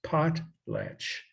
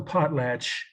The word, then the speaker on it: potlatch: pot plant when we're just like it sounds pot latch like p-o-t-l-a right TCH I guess you could